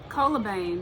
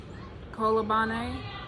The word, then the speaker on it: Colobane: hell we don't know I know that it's spelled c-o-l-o-b-a-n-e so the a is pronounced like an ah and the E is